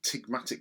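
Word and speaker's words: ptygmatic: beds it's a feature we actually called tigmatic folding the silent p what does this tell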